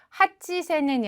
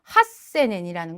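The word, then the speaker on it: 八千円: 그리고 이게 표기에 들어가면 더더욱이나 헷갈릴 수 있는 부분이기 때문에 산몇그란 표현과 그리고 록백그로 바뀌는 거 그리고 산젠 그리고 하치세넨이 아니라 핫세넨이라는 걸 반드시 꼭 확인을 해 두셔야 되겠죠.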